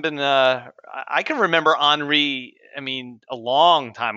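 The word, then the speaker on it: Henri: have been mispronouncing that you see it ends in an i so we're going with henry yeah it's been around for a long time too it hasn't been uh i can remember anri i mean a long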